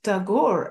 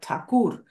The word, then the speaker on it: Tagore: he translated tagor and he wrote not tagor as it is spelled in in westernized form of his surname but takur which is the original this word takur um